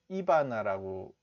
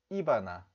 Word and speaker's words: Ivana: 그 경상도 사람들은요, 아홉시 이렇게 앞에다 강세가 있거든요. 그래서 이바나 이렇게 이바나 이바나 트럼프 이바나 트럼프. 이게 경상도 사람인데 이렇게 하시면 이바나 트럼프를 못 알아들을 가능성이 있습니다. 그래서 발음을 하실 때는 반드시 원어민의 발음하고 똑같이 따라하셔야 되는 거예요.